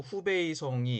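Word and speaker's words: 湖北省: 지금은 동정호, 즉 뚱띵호 북쪽에는 호북성, 중국어 발음으로 후베이성이 있고, 남쪽에도 호남성, 중국어 발음으로 후난성이 있습니다.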